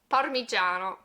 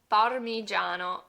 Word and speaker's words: Parmigiano: Our next Italian word that a lot of English speakers mispronounce is this one right here, parmigiano. Parmigiano.